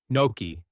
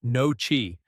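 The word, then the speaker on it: gnocchi: Noki and not. No chi.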